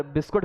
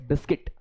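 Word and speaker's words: biscuit: ठीक है, उसी की तरह एक बच्चा मुझसे पूछ रहा है क्लास में, सर बिस्कुट खाओगे, मतलब बिस्कुट क्या, इट्स बिस्किट नॉट बिस्कुट।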